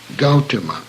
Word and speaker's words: Gautama: name of the jeez Gautama is the name of the butoh please note that owl is a diphthong as in house and should not be pronounced as the English word God he gaya tree is